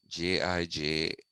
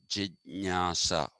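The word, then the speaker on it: जिज्ञासा: That word is jijnasa, Jijnyasa, but pronounced jijnasa, not jijnyasa, jijnasa.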